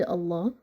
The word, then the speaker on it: Allah: be for the word Allah is the last pronounced letter and it has Shada and Kasra right so the word Allah also is gonna be with a light lamp the second case if